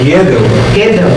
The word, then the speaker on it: Gödel: Deixa eu só jamais fazer, sem querer retificar a pronúncia, mas é só para os outros aqui também localizarem. É Gödel, que é do Teorema de Gödel que nós trabalhamos, e